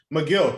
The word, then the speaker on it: Megill: So, yeah, I think one of my favorites is going to be Tyler Megill or Megill. I do want to pronounce it right, but he's one of McGill.